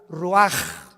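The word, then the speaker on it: רוּחַ: exhaló Isaac el Roach así como suena se pronuncia la c en hebreo como J ruaj se le só y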